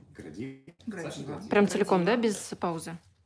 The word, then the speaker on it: Градива: И как правильно читается? Градива.